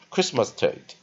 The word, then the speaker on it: Christmastide: 有发音啊，Christ 啊，落音在第二个音节 Christmas 啊，那当然第三个音节有落母音念 t 的啊，或者你念 a 的啊，啊最后一步发音啊，所以你念 Christmas tit 或 Christmas tit。啊，对啊，如果按它的拼法的时候，它是很奇怪，念 tight 啊，Christmastide 啊，那他老师认为他应该是标错了，直接念 Christmastide 就好了。下个单词 holiday，H-O-L-I-D-A-Y，H-O 啊，L interpon I